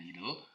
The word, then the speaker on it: itel: depan HP idle ya bacanya idle ya ingat ya kita tadi udah resetch sama-sama bacanya idle nah kalian bisa tulis